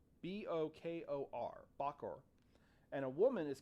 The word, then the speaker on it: Bokor: A practitioner of voodoo is called, for a man, it's a Bokor. B-O-K-O-R.